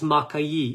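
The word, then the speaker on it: Maqui: it in here too I believe it's Maki is how they pronounce it but I we say in America just m Berry right there's another company built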